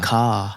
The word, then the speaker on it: car: Car.